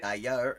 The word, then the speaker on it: d'ailleurs: Like, what she said, if you say d'ailleurs, in France, it's d'ailleurs, and it's a retroflex R. It's all the way in the back of your throat, like French R's generally.